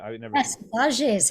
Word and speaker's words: saudade: the real, and you mentioned fado music and saudade, the Portuguese concept of, longing and missing something from I've the used very, that so many times on this podcast, right? Saudade, or I'm not. I never. yes, saudade is how you say I'm it.